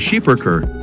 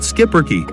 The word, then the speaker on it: Schipperke: given this breed's heritage although the proper pronunciation of the breed's name is scheiberker you might more commonly hear it pronounced skipperki especially in the united states the skipper keep